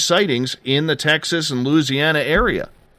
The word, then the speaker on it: Louisiana: Because I was pronouncing it Louisiana. And he's like, no, Louisiana.